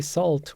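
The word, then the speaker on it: SLT: All right, now I said that I want you to say SALT when you are pronouncing these assembly instructions, and that's because the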